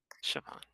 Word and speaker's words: Siobhan: I'm terrible with Gaelic pronunciation. It's truly, it's horrible. Siobhan. Siobhan, thank you.